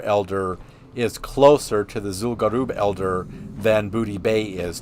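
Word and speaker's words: Zul'Gurub: Because it's the Gurubashi, so Garub, so Zul'Garub. That's where we're going now, is Zul'Garub. But yeah, Goldshire Elder is closer to the Zul'Garub Elder than Booty Bay is to Zul'Garub.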